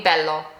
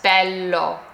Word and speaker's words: bello: So if this were to have one L, it would be bellow. But it has two L's, so it's bel.